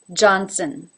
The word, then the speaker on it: Johnson: work that might help the second name Johnson juju going into the AH as in father even though it is spelled with an O H ja ja johnson Johnson the last syllable which is unaccented soon soon is basically an S straight into the N soon soon there is a little bit of a schwa thrown in there in the middle johnson Johnson number three